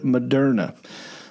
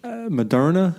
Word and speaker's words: Moderna: Well, no one says, right, it's the word modern with an A at the end.